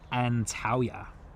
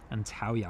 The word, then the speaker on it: Antalya: Pegasus is coming in from I'm probably going to butcher the pronunciation of this as well, but Antalya. Antalya I believe is how that is pronounced.